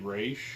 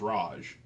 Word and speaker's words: Ra's: Yeah, it's like, I want to say Batman the Animated Series, it was typically Raish. Mm-hmm. And then if you watch Arrow, it's Raj.